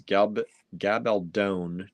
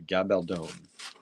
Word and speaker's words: Gabaldon: Norma says Gabaldon to rhyme with clone. Okay, Gabaldon.